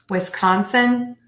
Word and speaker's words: Wisconsin: at the end Wisconsin if you say Wisconsin that is going to be totally fine most people will say Wisconsin Wisconsin Wisconsin because that's that really short sort of schwa sound here at the end but you will know